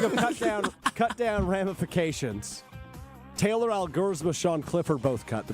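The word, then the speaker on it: Elgersma: Speaking of cut down ramifications, Taylor Algersma, Sean Clifford both cut, the backup quarterbacks. That's how you say it, Algersma.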